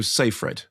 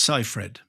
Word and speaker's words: Seyfried: How she pronounces it? Amanda right said Fred. So, Seyfried. It's Seyfried. Seyfried.